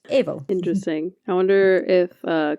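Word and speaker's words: Aoibheall: your Banshee is called evil so that's aoibh e-a-l-l and it sounds like the word evil but evil interesting I wonder if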